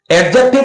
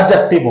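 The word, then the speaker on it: adjective: जी आ रहा था इसमें डी के बाद जे आ रहा है तो वहां पर हम डी का साउंड नहीं बोलते तो फिर इसके बाद में आप समझ गए होंगे इसी वजह से मैंने एडजेक्टिव को और एडजेक्टिव बोला है इज दैट क्लियर एडजेक्टिव को क्या बोला एडजेक्टिव बोला है तो राइट वे में एडजेक्टिव आपको बोलना चाहिए you should speak only एडजेक्टिव नॉट एडजेक्टिव okay सब कुछ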